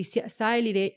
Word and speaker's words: sialic: And this expression of the sialic acid sialylation, how do you say it properly, Jason?